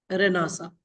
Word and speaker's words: Renaissance: Okay, so enlightenment is what we can consider this is post रेनासा. हम रेनासा उसको pronounce करते हैं, रेनेसांस लिखते हैं.